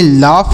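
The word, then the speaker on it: laugh: से आ की मात्रा यू का उच्चारण नहीं होगा जी एस से फ लिखेंगे तो इसे लिखेंगे लाफ और लाफ मतलब क्या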